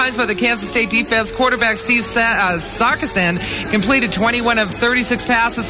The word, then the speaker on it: Sarkisian: The pronunciation is what? Sarkisian.